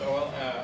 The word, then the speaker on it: OLE: Some people don't know how to say this, but it's OLE.